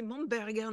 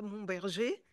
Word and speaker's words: Momberger: Donc, Delory-Momberger, bien prononcé Momberger, non pas Momberger, c'est allemand.